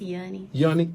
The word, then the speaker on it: Yuni: It's Yuni.